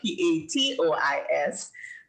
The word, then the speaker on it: patois: And you're saying patois beautifully. And we had the discussion that patois is actually spelled P-A-T-O-I-S, but it's pronounced patois, P-A-T-W-A.